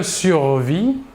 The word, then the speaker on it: survis: de la même manière le s et le thé finale de la terminaison ne se prononcent pas mais c'est écrivent enfin